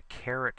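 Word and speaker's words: caret: fourth by using the carrot symbol c a r e t pronounced just like a carrot so raise it to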